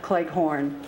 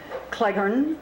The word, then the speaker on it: Cleghorn: i noticed there are a number of pronunciations of clay horn there's a story in